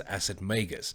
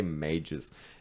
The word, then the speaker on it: Acid Magus: With the pronunciation of their band name, it is Acid Magus. That's the way I have it as well. But I've heard people say mages. Yes. All sorts of things. But I just, they're just wrong.